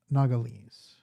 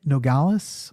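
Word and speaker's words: Nogales: the other one is nagales now it's very interesting because this town how do you like the pronunciation of that that that sounded pretty good nogalus is probably the correct terminology noala it's very interesting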